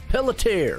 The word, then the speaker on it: Pelletier: Pelletier, right? Pelletier. Pelletier. Pelletier. Okay. See. You're putting 3 syllables in. It's Pelletier.